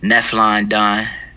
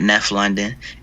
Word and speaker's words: Nephlon Don: find my music on youtube just type in nephlon don and that's how it's pronounced not neff london n-e-p-h-l-o-n-d-o-n then you can follow me at neflondon